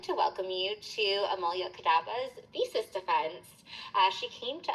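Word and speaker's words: Amulya Kadaba: Amulyas Kadaba.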